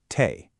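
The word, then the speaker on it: թեյ: Tay. It's pronounced tay. I mean, it sounds almost exactly like tea, which makes it super easy to remember.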